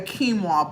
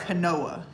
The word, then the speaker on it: quinoa: before I was vegan it's spelled q i n o a it looks like Canoa if you were to read it it looks like it says Canoa but it's it's a